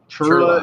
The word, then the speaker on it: CHIRLA: Chirla is how you say it.